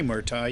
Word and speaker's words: Murtaugh: It was Danny Murtaugh's year, or however the hell you pronounce his name. Danny Murtaugh, you got it right.